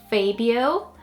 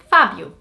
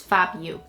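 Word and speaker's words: Fábio: It's not a particularly hard name, but it would probably be pronounced Fabio or Fabio, but it's Fabio. The O turns into an U sound more than O, so it's Fabio.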